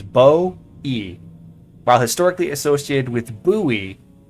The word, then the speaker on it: Bowie: The most common pronunciation of Bowie knife is Bow-E.